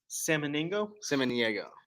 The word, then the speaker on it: Samaniego: Samaniego. Sam Maniego. Samaniego. It's like it sounds like ham and eggs, but salmon.